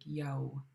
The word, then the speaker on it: Yaaw: Yeah, but in Tlingit, you actually round your lips for every single W. So instead of ya, it would sound like Yaaw.